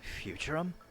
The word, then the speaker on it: Futurum: Futurum. That's the name of this planet. That's how it sounded pronounced in the local tongue.